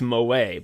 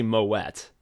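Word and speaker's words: Moët: like this person's name you'd think it's moay but it's actually Moet I don't know what this person calls themselves but it's m o t i want to say moette like the wine thank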